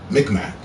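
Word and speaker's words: Mi'kmaq: It's pronounced like Micmac.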